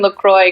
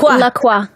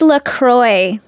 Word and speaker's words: LaCroix: I heard you don't pronounce it like the French would pronounce it, which would be LaCroix. I think it's LaCroix.